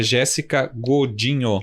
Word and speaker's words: Jéssica Godinho: Para quem tá anotando, é Jéssica Godinho, normal, como se escreve, né?